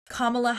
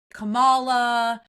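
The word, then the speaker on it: Kamala: And the fact that they're all like Camala, you know, like intentionally trying to mispronounce her name to dehumanize her, to take away her power.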